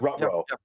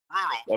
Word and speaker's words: Ruro: I wasn't sure if it was more like the Scooby Doo pronunciation or more, you know, Rutro. No. Ruro makes a lot of sense.